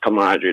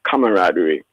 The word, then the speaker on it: camaraderie: There's no such word as camaraderie. The word is camaraderie and all of us make mistakes at times.